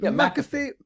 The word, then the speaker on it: McAfee: How do you pronounce his last name? Is it McAfee? McAfee, yep. It is. I've been pronouncing it right the whole time, thinking it's McAfee.